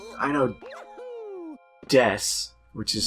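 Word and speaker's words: です: Well, I mean, like, I know des, which is spelled D-E-S-U.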